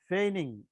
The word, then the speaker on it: feign: আমরা এই ফেনিং শব্দটার অর্থ এদিক দিয়ে লিখছি, দেখুন এখানে কোথায় লিখছিলাম, আচ্ছা আচ্ছা হ্যাঁ, তো ফেইনিং, এটা হচ্ছে জিটা উচ্চারণ হবে না, এটা হচ্ছে ফেইনিং মানে ফেইন,